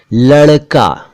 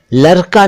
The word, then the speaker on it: लड़का: देखिए, लड़का यानी बॉय, लड़का नहीं कह सकते, लड़का, लड़का।